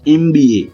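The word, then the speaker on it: MBA: तो उसको प्रोनाउंस कैसे जाता है? एमबीए। तो देखिए यहां पे प्रोनाउंस होता है एमबीए। तो यहां पे इसका जो प्रोनाउंसिएशन भले ही ये कंसोनेंट है। देखिए ये है कंसोनेंट हमारा बट इसका प्रोनाउंसिएशन किस तरह से होता है? देखिए इ ई से होता है।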